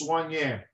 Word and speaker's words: soigné: It is, it's pronounced soigné.